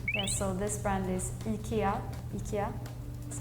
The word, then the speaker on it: IKEA: Maybe because we say I is like E, not I.